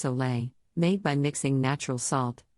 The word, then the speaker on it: sole: Instead, we are referring to a balanced salt water solution, often termed as SOL, pronounced Soleil, made by mixing natural salt, like Himalayan pink salt, with pure water.